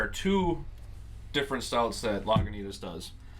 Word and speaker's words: Lagunitas: So there are two different stouts that Lagunitas does. I've been saying it wrong this whole time. I thought it was Laguintas.